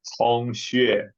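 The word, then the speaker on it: Cong Xue: If you want a more standard, better pronunciation in Chinese, it's Tong Xue. Song But I doubt Shui. How is that? Song Shui. Initial C is like a TS.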